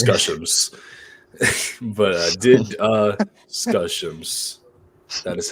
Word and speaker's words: DDiscussioMs: you have problems yourself but here is the pronunciation it is did uh skill issue no it says scuss but did uh scuss that is how you say it these four